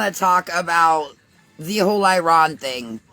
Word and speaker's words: Iran: bombing of Iran and it's not Iran. For all of you people who can't produce pronounce it, it's Iron. Iran. Okay. Otherwise known as it it is an Arabic word. Iron not Iran.